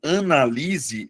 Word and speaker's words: analise: O primeiro caso, analise, é verbo, Luana. Mas aí você vai perceber, analise. A sílaba tônica é a anterior. Beleza? Eh, é a penúltima sílaba. Já no caso do substantivo, você muda a tonicidade, você muda a posição da sílaba tônica, Luana, e transforma em substantivo.